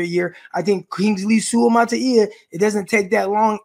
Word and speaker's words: Suamataia: The thing with Suamataia for me, and by the way, he nailed the pronunciation as well, Suamataia, Kingsley.